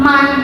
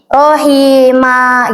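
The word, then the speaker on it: رحيما: Jadi dibaca si ee apa fatnya dibaca satu aja ma gitu jangan man gitu karena kan ini ada man thobinya ya panjang noh ini nih jadi rohima gitu terus kalau ini aliman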